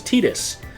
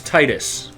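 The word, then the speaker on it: Tidus: team and he said the way you pronounce his name is tedious and then recently I think Nicky found something where they say Oh fish' Lee it's tightest but yeah I call him Tito's now and I hate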